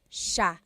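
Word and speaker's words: siya: it's actually pronounced Sha Sha so the SI i y it's a sha sound sha and then another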